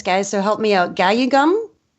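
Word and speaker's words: 가야금: Gayugum? How do you say Gayagum. that? Gayagum.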